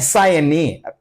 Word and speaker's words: sine: Read it and don't read it as sin. Bhala huduguru sin anta odtiri. Sin anta odbaraadu. Actually, is the SINE. You have to pronounce it as sine C.